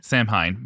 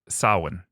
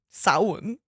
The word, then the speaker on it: Samhain: You might look at it and say Samhein. but It it's according to the Irish storyteller that I heard tell the story just this morning. It's Samhain. Samhain. Samhain.